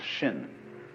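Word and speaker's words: 心: mind in chinese's mind is um this word pronounced shin and shin is here Shin is the heart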